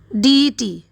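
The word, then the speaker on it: deity: के लिए इंग्लिश होगा डीई टी डी ई टी इसको हमें प्रोनाउंस ऐसे करना है डीई टी डीई टी का स्पेलिंग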